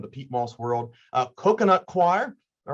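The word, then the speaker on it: coir: sing i said well that's the choir he said exactly that's how you pronounce it coconut choir there's also bark and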